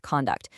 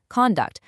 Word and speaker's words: conduct: As a noun, the stress is at the front. Conduct, like his conduct was excellent. But as a verb, the stress shifts to the back. Conduct, like she will conduct the experiment. Same exact spelling, completely different stress, entirely different meaning.